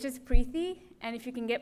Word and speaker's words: Preethi: okay all right so my name is prey it rhymes with peeee um I continue to